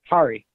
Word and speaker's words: Kari: Kari. The Cosmic Garden? Like driving a car. Oh, you're driving a car. What have you got for Adam? It rhymes with a car.